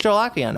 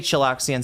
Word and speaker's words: Chilakian: Oh wait, somebody's telling me how to pronounce it. Chilakian. It's just chillakian. Okay, so I just got a chillax. When I when I hear about Egon Chilakian, I think about Egon Chilaxian. But don't say Chilaxian, say Chilakian.